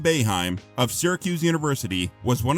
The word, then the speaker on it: Boeheim: Coach Jim Boeheim (note for VO: pronounced BAY-HIME) of Syracuse University, was one of the college coaches who made efforts to recruit Anthony.